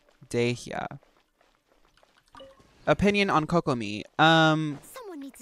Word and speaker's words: Dehya: It's Dehya.